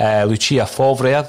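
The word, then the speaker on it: Lucien Favre: We spoke about Lucia Favre, that's how you pronounce it, Declan, former Borussia Dortmund manager.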